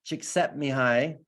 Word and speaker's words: Csikszentmihalyi: This is, I don't know if some of you are familiar with Mihai Csikszentmihalyi.